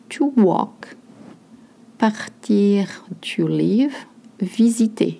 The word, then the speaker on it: visiter: Visiter, you notice the Z sound, just like in framboise.